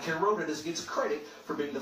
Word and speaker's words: Pythagoras: C squared, yet Pythagoras, that's actually how you pronounce it, or we're used to saying Pythagoras, is known as the father of that theorem and the father of mathematics.